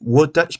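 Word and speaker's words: Wotan: les trucs comme ça en fait eux c'était what comment prononce mais c'est W o t a n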